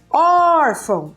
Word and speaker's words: órfão: Então, por exemplo, órfão. Olha lá, eu permaneci mais tempo aqui.